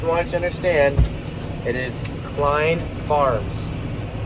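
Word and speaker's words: Chlen: to understand it is Klein Farms I know it doesn't look like Klein but it's Klein Farms it's spelled c-h-l-e-n which sounds like Chalan but when you see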